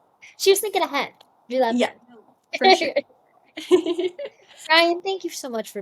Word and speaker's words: Ryien: p y and then my name is spelled r y i n it's pronounced Ryan but it's just a